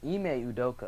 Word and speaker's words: Ime Udoka: Ike Udoka, I think that's how you pronounce it. I think his name is Ime Udoka.